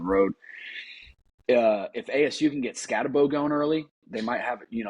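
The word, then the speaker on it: Skattebo: But with how do you say it? Scatabo? You did really good on it. Scatabo. Yeah, Scatabo.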